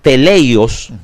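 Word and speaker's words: τέλειος: Que se pronuncia o se lee eh teleios, ¿okay?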